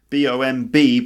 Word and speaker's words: bomb: bomb an explosive device B OMB but the B at the end is silent so we end up with bomb and bomb and bombed